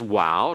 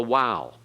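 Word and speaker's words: Waw: Hebrew Hebraic and so the sound is like in WoW or in modern Hebrew it has the sound of a V like in that okay notice that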